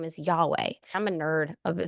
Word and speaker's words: Yahweh: Greek Theology of that if you say it correctly it sounds like breath so it's yahe it's a breathing in and out yeah I'm just saying